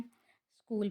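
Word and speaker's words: school: स्कूल में H silent है, give में गिव में ई, नाइफ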